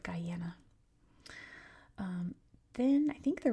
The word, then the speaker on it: Guyana: I didn't know it was Guyana. It's pronounced Guyana. That's how they say it. Um Gana is the French pronunciation.